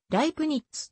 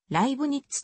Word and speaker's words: ライプニッツ: 9 車ライプツィヒ出身なおライプニッツの発音はライプニッツとしているものとライブにっつとしているものとがあるルネデカルトやバー